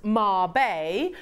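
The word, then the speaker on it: Mabe: a Marb Pearl um Marb Pearl pronounced Marb um are a unique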